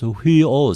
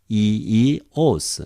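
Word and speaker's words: υἱός: So in seminaries they usually pronounce huios, something like this. But in modern Greek, eos, accent here, eos.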